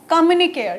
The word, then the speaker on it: communicare: तो word कम्युनिकेशन कोठू आसी गोटे लैटिन वर्ड रू आसी जार वर्ड रो प्रोनाउंसिएशन टा कोन कम्युनिकेयर COMMUNICARE कम्युनिकेयर जहाँ माने होची to share and make common.